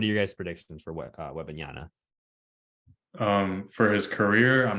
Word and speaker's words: Wembanyama: what your guys' predictions are for Wembanyama's or Wembanyama.